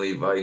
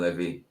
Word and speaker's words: Levi: I'd say John Levi, not John Levy. I only say Levy because I'm used to other people saying it.